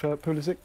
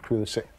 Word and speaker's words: Pulisic: this table, at this table at least, of Pulisic? Well, you're in charge and you seem to decide that it was Pulisic.